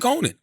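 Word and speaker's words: Konan: How you pronounce it? Krept. K-R-E-P-T and K-O-N-A-N. Krypton Conan.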